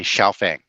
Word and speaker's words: Xiaofeng: I wish I could speak Mandarin, but I had to look it up and ask how is that actually pronounced. And the internet sites all tell me Xiaofeng.